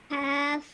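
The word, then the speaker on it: ك: That's why it's a thin sounding letter. So when you say it, you should have a smile on your face and you should pronounce it.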